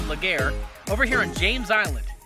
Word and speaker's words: Legare: connector were over here in Legris farms or phonetically spelled Legare over here in James Island now I know